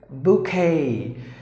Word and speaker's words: bouquet: Bouquet. Here a couple of letters are silent, like O is silent and the remaining Q-U-E-T is pronounced like sorry, like K.